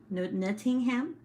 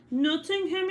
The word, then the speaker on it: Nottingham: was born in nottingham netting him is that how you say it no noting nottingham noting him england uh he was